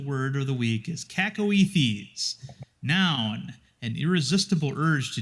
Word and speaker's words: cacoethes: Cacoethes. Otherwise known as fuck it. Fuck it as a proper noun. How do you say it again? Cacoethes. Cacoethes.